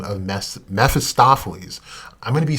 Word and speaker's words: Mephistopheles: name which is one who flees the light mephistophely map is uh he is known to be dark down whose very core however there is a character conflict presented in his lore see mephistopheles oh i said it right that time is